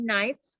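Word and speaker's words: knives: dia pakai v ya dan bacanya bacanya knya gak usah ikut dibaca My mother has many kniv In The Kitchen my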